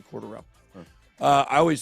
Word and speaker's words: Cordarrelle: I've been saying Cordero. No, it's actually Cordarrelle.